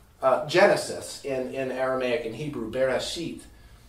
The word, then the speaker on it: Bereshit: The first letter of Genesis in Aramaic and Hebrew, Bereshit. It's not Bereshit. It's actually Bereshit. It's just not pronounced. It's there. It keeps the word moving, but it's silent.